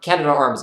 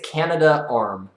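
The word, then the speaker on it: Canadarm: you definitely answered that I think it's Canada arm fully pronounced though okay let's see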